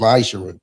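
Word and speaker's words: מעשר: 3 8-10 means 10th in Hebrew and is pronounced maisher 10% of every penny of any increase the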